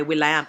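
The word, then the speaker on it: will.i.am: commissioned to him by William I think you guys know who will I am is spelled William but it's will I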